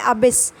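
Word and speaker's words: abyss: तो first word है आपका एबिस। इसको प्रोनाउंस कैसे करेंगे वो मैंने साइड में लिख रखा है, अबिस। पहले ए बोल के अबिस, अबिस बोलना है।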